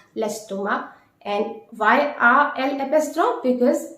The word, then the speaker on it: l'estomac: And please note, you don't need to pronounce the final C. Avoir mal à l'estomac.